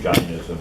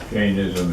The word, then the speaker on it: Jainism: Jainism, Jainism, sometimes pronounced Jainism, but Jainism is more in.